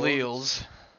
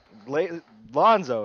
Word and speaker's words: Lonzo: That's not Leals. Lonzo is what I said. You said it wrong. You heard it wrong. Lonzo.